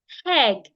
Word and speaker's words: egg: They would add H to this word. They would say apple. They would say egg. That is wrong. Never add H to words that start with vowel letters.